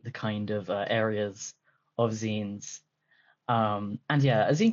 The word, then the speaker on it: zine: Um, yes, the correct pronunciation is Zen, not Z. Uh, so I will be saying Zen.